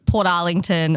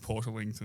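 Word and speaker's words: Portarlington: way no you got to get to like Port Arling or ocean grave before I'm like you're outside jalong it's pronounced Port lington Port lington and then even still like if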